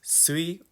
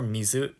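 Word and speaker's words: 水: has two different readings it could be pronounced sui or Mizu depending on the context so again this character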